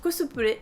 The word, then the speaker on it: cosplay: ni solitaire ni steinès le cosplay prononce à la japonaise cosplay et la contraction des